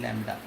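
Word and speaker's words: lambda: इट is pronounced as लैम्डा.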